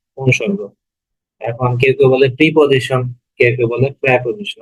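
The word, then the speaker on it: preposition: তো অনুসর্গ হচ্ছে ইংরেজিতে আমরা যেটাকে বলি, যেটাকে প্রেপোজিশন। ওকে, আমরা যেটাকে প্রেপোজিশন বলি সেটাকে বলা হয় অনুসর্গ। এখন কেউ কেউ বলে প্রিপোজিশন, কেউ কেউ বলে প্রেপোজিশন, আসলে প্রেপোজিশনটাই শুদ্ধ উচ্চারণ।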